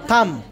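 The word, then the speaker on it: thumb: pronunciation इसे date और थंब नो बी थंब थंब right pronunciation इस थंब और लास्ट वन इसे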